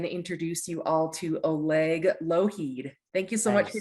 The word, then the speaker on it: Oleg Lougheed: me i'm going to introduce you all to oleg loheed thank you so much for joining today thank